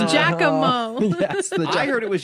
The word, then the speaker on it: Giacomo: Absolutely, but with the Spiritomb Giacomo, or however you pronounce that, Giacomo. It's Giacomo.